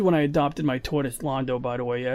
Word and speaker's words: Londo: It's Londo. He's named after Londo from Babylon 5, not Lando Calrissian.